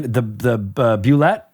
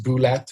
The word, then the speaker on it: Bulette: If it was Bulette or Bulette or Bullet or what, I have always said Bulette in my head.